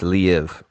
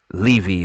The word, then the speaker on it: Liev: I think it's Liev. Mm, And I remember he was like, I hate it when people say Levy or Levi.